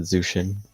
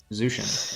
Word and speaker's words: Zuijin: I just pronounce it Zushin, usually. Zushin.